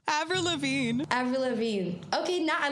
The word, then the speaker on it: Lavigne: did we just break it to you every laveen avril lavigne avril lavigne okay now i love this name